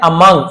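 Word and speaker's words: among: इसे मंक ग जैसे पढ़ा जाता है बट बहुत से लोग मंक या मंग ऐसे पढ़ देते हैं। मक भी पढ़ देते हैं। बट एक्चुअल में मंग जी जैसे उच्चारण होता है ग जैसे टू अमंग हु लिव्ड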